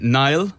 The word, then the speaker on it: Niall: I like get to it and then I go, sometimes when I was like back home, I used to say Niall, like N-I-L-E effectively.